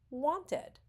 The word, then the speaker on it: wanted: So as we see, want ends in a T, and we simply add our ending and pronounce it wanted.